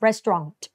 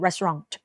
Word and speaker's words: Restaurant: นั่น เอง นะ คะ อย่า ลืม ตัว T นะ Restaurant นะ คะ ตัว T Restaurant โอเค สุด ท้าย นะ